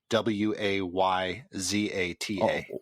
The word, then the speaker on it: Wayzata: how would you say W a Y Z ata well that's why Zhanna or wise Ana Wayzata right yeah yeah that's um I've